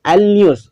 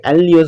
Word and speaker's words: Alnus: Fifth एलन्यूस। Okay दोस्तों, क्या क्या बोलने का दोस्तों, एलन्यूस, ALNUS। ओके, एलन्यूस बोलने का।